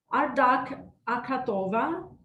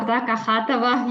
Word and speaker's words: Ardak Akhatova: And the next presenter is Ardak Akhatova. Is that, how did I pronounce that? It's good. It's acceptable. Ardak Akhatova, yeah, acceptable. It's right, so, almost the same.